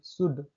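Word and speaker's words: should: Rule number first है, किसी भी शब्द में डी के पहले एल आता है तो एल साइलेंट होता है।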